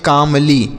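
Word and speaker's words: calmly: इसे हम पढ़ेंगे कामली।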